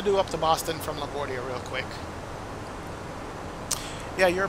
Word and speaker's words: LaGuardia: flight I'm gonna do up to Boston from LaGuardia real quick yeah you're pronouncing that correct Thank You Christian Thank You mr.